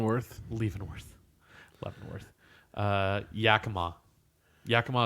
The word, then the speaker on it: Yakima: leaving North North Yakima Yakima is constantly mispronounced jicama is when I hear a lot Waterville Waterville Waterville a